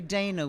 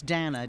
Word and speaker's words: Dana: Usually Americans say Dana, which is horrible. It's Dana, D-A-N-A. Rhymes with Spanner. Rhymes with Spanners.